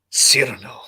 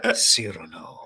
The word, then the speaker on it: Cyrano: Cyrano. Cyrano.